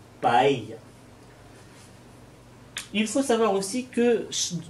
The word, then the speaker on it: paella: Le son, quand vous aurez deux L en espagnol, ça se prononce comme dans le mot famille, paella.